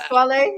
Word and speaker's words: Pasquale: Pasquale? It sounds more Italian. That is the Italian pronunciation.